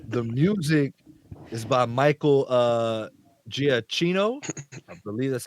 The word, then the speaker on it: Giacchino: Yeah, so the music is by Michael Giacchino. I believe that's how you pronounce his last name. Michael Song, Giacchino.